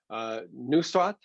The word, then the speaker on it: Nusraat: Today, I am very pleased to be joined by, and I want to make sure I pronounce this properly, Nusraat, is that correct? Yep.